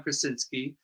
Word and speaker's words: Krasinski: And Krasinski is just spelled like the actor John Krasinski, K-R-A, sin in the middle, ski down the hill.